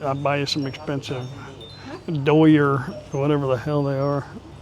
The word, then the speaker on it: Dior: Get I'll buy you some expensive Dior whatever the hell they are. How do you say that? Dior. Dior.